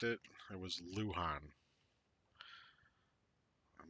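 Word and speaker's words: Luján: Okay, I mispronounced it. It was Lujan.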